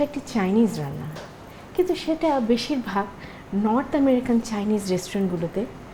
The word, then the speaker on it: Tso: আজকে যে রান্নাটা আপনাদের দেখাবো সেটা একটি চাইনিজ রান্না, কিন্তু সেটা বেশিরভাগ নর্থ আমেরিকান চাইনিজ রেস্টুরেন্টগুলোতে করা হয়ে থাকে। সেটার নাম হচ্ছে জেনারেল সোস চিকেন। জেনারেল সোর নামের বানাটা হচ্ছে TSO, কিন্তু উচ্চারণ হয় সো।